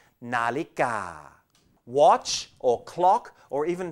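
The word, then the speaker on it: นาฬิกา: And here's the other one, nonu, and the vowel sound of a again, na, followed by law jula, and the vowel sound of I, li, and finally gor gai, and the a sound, ga, nalika.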